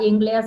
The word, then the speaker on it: Engleza: in this interview the youtube channel is rita ingles that would be the pronunciation romanian and english is actually the word